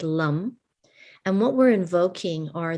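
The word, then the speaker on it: Lam: Earth is our foundation the seed sound that invokes the Earth is Lum and so it's l-a-m the a is sounds like an uh this is the Sanskrit a short a and so it's like Lum and what we're invoking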